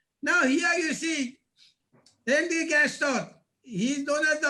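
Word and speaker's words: Gastaut: Gaston, he is not pronounced in French.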